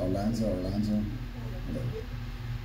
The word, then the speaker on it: Arlanza: That's how you say it, Arlanza.